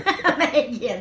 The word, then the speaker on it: Mehagian: me today Nancy, I already forgot how to pronounce it, Mehagian. Close. Yeah, I screwed it up. Mehagian. Mehagian.